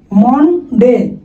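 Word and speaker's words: Monday: মনডে, এটা মনডে না, এটার উচ্চারণ কি হবে? মানডে, মানডে।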